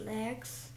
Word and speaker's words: legs: And then ran away on very fast legs. Почему legs? Потому что legs. Ну, а как правильно читается? Как надо окончание прочитать? Legs. Вот так. Это очень важно.